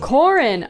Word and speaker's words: Corin: you say her name is it Corin not Karin my life if is a lie hold on I have to fact check Corin Corin okay her name is Corin God I hate when